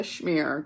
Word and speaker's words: schmear: cheese and lox and I know the schmear doesn't have an SH sound but that's how you pronounce it I crinkle my nose